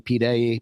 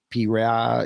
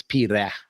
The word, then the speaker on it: Pira: Everyone's saying Pete A. Pete. Pira. It's Pira. Pira. Pira. Pira. Pira. Ah, okay. Yeah, that's the proper way to say it.